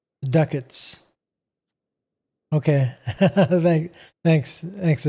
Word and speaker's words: ducat: Ducat is spelled is pronounced like bucket but with a d. So it's ducket duckets.